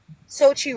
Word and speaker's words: Xochi: It's So, it's Sochi. So, Sochi Sochi Sochi like Sochi. Yeah. So, like Sochi Russia is the easiest way.